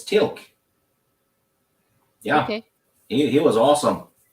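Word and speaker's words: Teal'c: it's Tilk.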